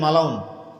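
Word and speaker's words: ملعون: উপর লান্নত থাকে তাকেই মালাউন বলে বাংলায় মালাউন বলি না বাংলা না ওটা শব্দটা ওটা আরবি শব্দ ওটাকে মালউন সঠিক উচ্চারণ কি মালুন যেটাকে আমরা মালাউন বলি আল্লাহর ভাষা পরিভাষা এমনই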